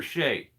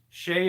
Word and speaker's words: Shay: on every PR so our guy uh Peter Shay is another YouTuber really good tree guy so go check out Peter's Channel if you get a chance Shay is spelled s h EA so Peter left